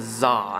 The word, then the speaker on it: Xa: and he's got a crown of za and that's spelled with an X and not a Z this is kind of